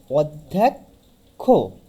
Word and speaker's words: অধ্যক্ষ: অর্থাৎ এটার উচ্চারণ হবে অধ ধোক খ, অধ্যক্ষ।